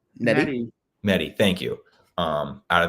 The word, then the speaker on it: Nettie: Natalie. Is that how you say it? Nettie.